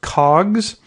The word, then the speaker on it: COGS: cost of goods sold that would be pronounced cogs multiplied by the 365